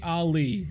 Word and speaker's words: Ali: name bro don't worry you can just say Ali all right yeah like Prince Ali yeah boy I love